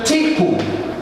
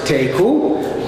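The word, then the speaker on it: תיקו: What will be extremely familiar to speakers of modern Hebrew, particularly sports fans, is the expression tiku. Admittedly in modern Hebrew they pronounce it teku, which means let it stand.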